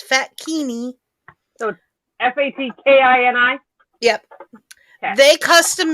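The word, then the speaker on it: fatkini: fat kidney which is spelled like bikini only with fat it's fat kini so f-a-t-k-i-n-i yep they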